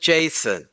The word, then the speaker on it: JSON: open- notify dogroses they're even doing the content negotiation right in the URL and yeah I know everybody pronounces that Jon I call it Jason otherwise I mean I